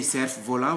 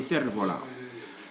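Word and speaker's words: cerf-volant: We don't say cerf volant, we say cerf volant.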